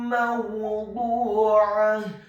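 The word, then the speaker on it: موضوعة: Ingat membaca huruf dha yang dhammah dibaca tafkhim dengan posisi bibir bawah kita agak tertutup dan posisi lidah kita di langit-langit atas. Mawdu'ah. Kemudian huruf ainnya ditekankan keluar dari tenggorokan bagian tengah fathah 1 harokat. Dan di akhir ayat huruf ta marbutohnya diubah menjadi huruf ha yang tafkhim yang tebal dan dibaca sukun.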